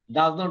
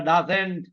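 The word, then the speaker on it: doesn't: হবে ডোন বলেন ডোন ডাজ নট এর উচ্চারণটা ডাজে এন্ড হবে না বলুন ডাজেন ডাজেন ডোন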